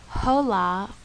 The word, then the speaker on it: hola: examples in spanish gato this letter in spanish is silence it is never pronounced you see it in words like hola and hotel notice that i did not say hola or hotel that's because that letter is silent and we don't ever say it the next letter this